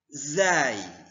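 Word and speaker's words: زاي: Kemudian zai. Penyebutan huruf zai seperti Anda menyebutkan huruf z.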